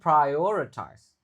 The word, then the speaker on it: prioritize: Ada O-nya langsung prioritize ya. Jadi ada ayo kayak gitu. Ayo ayo prayo kayak mau bilang ayo ayo ayo prior prioritize.